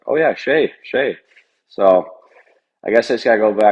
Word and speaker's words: Skjei: It was the first time in my life where everyone was like, oh yeah, Skjei.